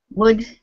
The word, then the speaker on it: would: the same with would this word sounds exactly the same wood and wood goodies have